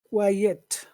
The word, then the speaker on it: quiet: yeah means scum okay and how do you pronounce it it's quiet quiet Muhammad what what does number three mean